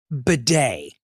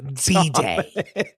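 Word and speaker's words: B'Day: of her landmark album, Bidet, popularly pronounced B-Day. Not bidet.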